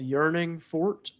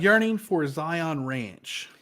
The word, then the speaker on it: Yearning For Zion Ranch: started moving to uh called yearning Fort is that how you pronounce it yearning for Zion Ranch yearning for Zion Ranch okay all right you've got it so wrong yes yes well